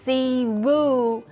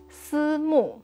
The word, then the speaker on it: Simu: So instead of si wu, we will call him si mu.